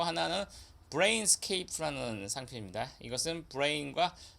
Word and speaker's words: Brainscape: 자, 이 하나는 브레인스케이프고 하나는 브레인스랩인데 이것까지도 발음이 유사한가? 이렇게 생각할 수도 있겠는데 이 경우는 저도 좀 많이 의아했는데 담당 심사관이 이 브레인스케이프 BRAINSCAPE 이거를 읽을 때 브레인스캡 정도로 읽었던 것 같아요.